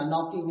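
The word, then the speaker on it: knock: मतलब दरवाजे को खटखटाना तो एन से पहले देखो के है कि नहीं तो के है जो के है वो क्या है साइलेंट है क्यों क्योंकि एन से पहले आया है और यहां बोल क्या रहे है नोक नॉक है ना नोक नक मतलब क्या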